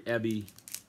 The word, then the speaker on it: heavy: version uh very uh very ebby this is an english pronunciation of a drop in the h's very heavy very humble so i've